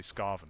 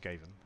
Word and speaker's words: Skaven: camera with right click yes I never played skaven in tabletop but I did I used to say scarving when I was little when I was when I was a young teenager I would say scarving because I'd never heard anyone say it out